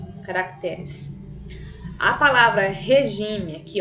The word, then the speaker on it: caracteres: Observe que a palavra caráter, o acento está no primeiro ou no segundo A da segunda sílaba. Primeiro A da segunda sílaba, aqui no R, acompanhando o R. Quando eu vou passar para o plural, ela perde esse acento. Nesse caso aqui, perdeu o acento.